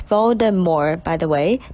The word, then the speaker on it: Voldemort: pronounced than voldemort it's voldemort by the way the t is silent as this name is